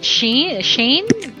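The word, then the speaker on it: Shein: you've seen is it how do you say she shane s-h-e-i-n-dot-com correct but you know i see i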